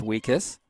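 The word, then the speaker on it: Wiejkus: year with the Seahawks last name spelled w-i-e-j-k-u-s pronounced weakest five foot four forward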